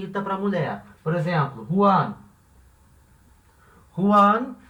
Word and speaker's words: Juan: Em espanhol isso não acontece, vai ser considerado uma coisa só, Juan.